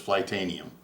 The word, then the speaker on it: Flytanium: not with the um fly titanium log cages flightanium I always say titanium but it's flitanium is the correct way to pronounce it all right people well that's about